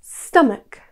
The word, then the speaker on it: stomach: Number three, stomach. Looks easy, but the ch is tricky. Instead of a ch sound, this is pronounced as stomach.